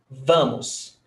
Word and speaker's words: vamos: i two vowel sounds vamos stressed syllable before last noise vermouth the shape